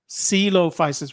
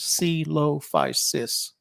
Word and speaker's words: Coelophysis: we were both wrong it took us till the end of the visit to the museum to figure out I think Shelly figured it out first because it said it said how to produce pronounce it it had to pronounce it C Lo-Fi sis yeah and that's what